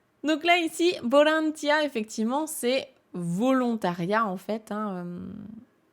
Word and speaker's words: ボランティア: le transforme en V mais les Japonais continueront à le prononcer B parce qu'ils arrivent pas prononcer le V ça sort pas dans leur bouche donc là ici bolantia effectivement c'est volontariat en